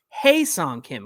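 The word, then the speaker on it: Ha-seong Kim: Kim Mike's getting me to say hi song that's not how you say it it's hey song Kim we had an every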